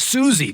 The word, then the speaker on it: Siouxsie: to pronounce it, but I believe it's pronounced Susie, but it's spelled SIOUXSIE.O on Instagram.